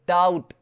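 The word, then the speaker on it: doubt: वैसे यदि हम बात करें डाउट, डाउट बी बुला रहा है क्या, नहीं बुला रहा है, डाउट यानी कि शक, शक।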